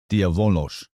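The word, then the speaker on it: διάβολος: Diabolos. Yeah, diabolos. And it looks like diabolos, but that beta beta is is pronounced like a V.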